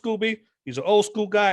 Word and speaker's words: Scoby: his nickname is scooby his last name is pronounced scooby he's an old school